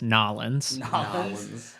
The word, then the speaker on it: New Orleans: uh on Bourbon Street if you want to be like a local it's pronounced nollins uh there's uh on like